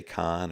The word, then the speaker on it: Cannes: So I'm a hillbilly from Indiana, and I'm going to say it's can, just can. Some people say con or can, can, CANNES, the city in Italy.